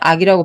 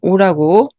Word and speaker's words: 惡: 외에도 이런 글자가 있어요 악하다 할 때는 악이라고 발음하고 미워하다 할 때는 오라고 소리를냅니다이 본문에서는 미워하다라는 의미 싫어하다